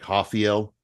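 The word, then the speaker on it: Rafael: No, what I don't like is Brazil how they have to pronounce the Rs as H's. Like I really don't like that. Okay. I I I can't I can't roll. So instead of instead of Raphael, it's like Hafiel.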